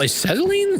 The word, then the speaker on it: acetylene: That doesn't look like acetylene to me. Oh, you know, I see. Acetylene. Okay. Yeah. Acetylene. Okay. Yeah. Okay, that makes more sense. I was pronouncing the C wrong.